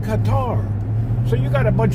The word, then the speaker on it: Qatar: are dumb asses and they can't even pronounce the word Qatar when they talk about the country Qatar you listen to them dumb asses cutter cutter cutter what do you mean cutter it's called Qatar so you got a